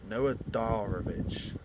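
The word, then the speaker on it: Noah Darvich: very very very top class but up shoot Noah darich that's how you say it German 17 years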